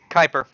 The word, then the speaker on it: Kuiper: and the mostly unexplored whatever that is built Kuiper sure yeah that is up is that spelling is it's pronounced Kuiper belt that that's fine I respect his pronouns